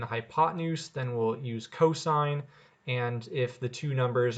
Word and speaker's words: cosine: The abbreviation COS out loud is called cosine, and then the abbreviation TAN is pronounced tangent.